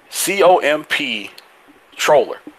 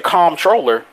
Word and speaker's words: comptroller: say them, but hey, say this, but don't pronounce this letter that's in there. Then why is it there? If I'm not gonna sit here and pronounce it, why is it there? Like there's okay. There's a word called comp. There's a word called I'm pronouncing it bad. I'm pronouncing it the bad way on purpose right now. There's a word called comptroller. COMP troller. So I'm like, but you're supposed to say comptroller.